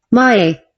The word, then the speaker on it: Mahé: How to pronounce it? Mae. Mahé, Mahé, Mahé to 1,800 kilometers of ocean that separate Mahé from mainland Africa seems to happen on grand scale.